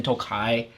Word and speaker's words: Tokaji: He wanted a whiskey that was finished in Tokai wine cask, but it looks like it's spelled Tokaji, and so people thought